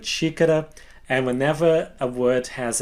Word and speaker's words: xícara: So just to remind you of those 2 little tips that I gave earlier, whenever a word starts with an X, it will have the sh sound, like the word xícara, and whenever a word